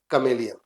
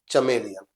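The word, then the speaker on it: chameleon: इ ल about spotting कमलिन right prawn pronunciation is कमलिन नॉट चमेलियन सो my dear student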